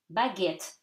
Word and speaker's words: baguette: Baguette, so you read the T, okay? And at the end, you do not read the E, is silent. So, baguette. S'il, vous, again, OU gives